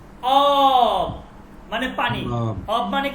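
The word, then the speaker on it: آب: যেমন দেখেন, অ কি অব মানে পানি, অব মানে কি পানি, অব।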